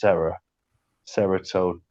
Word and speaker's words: Ceratogyrus: It's like a ceratops, isn't it? Because of the cera. So I think Triceratops. It's Ceratogyrus. The horn.